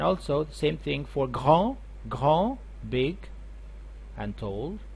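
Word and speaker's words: grand: the same thing for gran big and told it's a huge gran it these two consonants you don't pronounce them it will be ground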